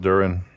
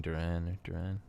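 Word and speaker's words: Duren: duran to detroit damn i think it's pronounced durian durian really no it's d-u-r-e-n i just heard people saying duran duran but what's the um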